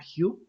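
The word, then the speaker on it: hue: adicional este parámetro adicional se llama hugh es la forma en Cómo se pronuncia en inglés es un poco raro pero no es otra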